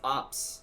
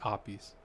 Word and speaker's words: Apis: you pronouncing your name it is uh it no it's it's opie's oh but i just heard the guys say opps watch when she said her name she said it opi's in the last episode